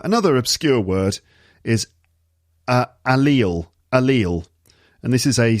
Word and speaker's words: allele: from genetic biolog from genetic biology and it's pronounced allele and i remember i remember this word coming